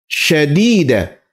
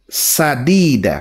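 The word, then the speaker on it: سديدا: Ini sering banyak orang salah bacanya. Ini dibacanya ulan syadida. Padahal sadida pakai sin bukan syin ya.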